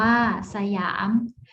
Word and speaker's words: สยาม: อ่าน ว่า ปะ หรั่ง Siam อ่าน ว่า สยาม ฉลาด อ่าน ว่า ฉลาด